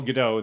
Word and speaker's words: Gadot: And the Israelis would not pronounce DOT with the T silent.